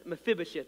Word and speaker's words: Mephibosheth: It says, now when Mephibosheth, that's how you say it, Mephibosheth, the son